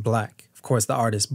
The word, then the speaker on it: 6LACK: that said black, pronounced black. Of course, the artist Black spelled out 6LACK, but phonetically said or pronounced black.